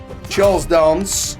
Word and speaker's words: Charles Dance: Charles Dance, as is the correct way to say it, I believe, but I'd say Dance personally, because I'm from North.